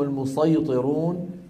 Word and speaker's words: المصيطرون: بالسين فقط قوله تعالى امهم المصيطرون تقرا بالصاد وبالسين ولكن النطق بالصاد اشهر لذلك علمائنا وين وضعوا